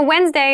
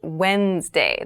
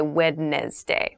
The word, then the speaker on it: Wednesday: wednesday wednesday wednesday so wednesday is the middle day of the week but keep in mind this is pronounced wednesday there's a d there but we don't say witness day we say wednesday wednesday the 18th wednesday